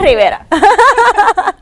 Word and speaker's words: Rivera: And I'm sorry that I stuttered there, but because it rhymes with Vieira, it was like Vieira. No, Rivera.